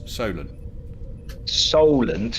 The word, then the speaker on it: Solent: in the mainland yeah she told me I was pronouncing it wrong and I only see a memory so links and you pronounce it so Leland yeah the silent I can't really hear much difference Solan Solent as in Seoul or Solent as in so yeah so did you